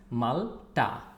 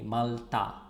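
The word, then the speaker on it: মাল্টা: It's malta, malta or malta. It is pronounced in both ways. You can say malta with a T, or you can say it with a soft T, malta.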